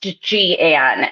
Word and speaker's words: Jeanne: Our birthday girl's name is pronounced Jeanne, and I misread it.